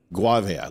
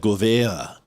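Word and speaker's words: Gouveia: Guavea, like guava, like coffee. Good. Okay, so every time I think about this guy, I'll think of coffee. Guavea. There. I'll never mispronounce it again. It sounded French to me like Govea.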